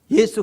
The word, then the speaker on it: 예수: 영어로는 Jesus 그러는데 발음이 틀렸어요. 후죠. 예수가 맞아요. 예수, 이게 정확한 발음이에요.